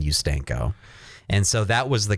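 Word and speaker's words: Ustanko: u-s-t-a-n-k-o and I thought there's no way to pronounce that other than you stanko and so that was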